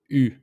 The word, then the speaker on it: eu: Instead of j'ai, tu as, il a, we simply add u, e-u. It's pronounced u. So it's like if it doesn't have the letter e, so we just pronounce the u.